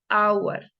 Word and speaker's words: hour: Por ejemplo, hour, hour, hour.